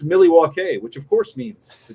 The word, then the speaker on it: Milwaukee: Actually, did you know that it's pronounced Milwaukee, which of course means the good land?